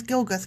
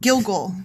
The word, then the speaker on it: Gilgal: And I want to call this place Gilgath. Gilgath! There. Done. Yeah, Gilgath. there it is. I did it. Yeah. When the Israelites were camped at Gilgal. Oh, I said it wrong. Gilgal. Gilgal.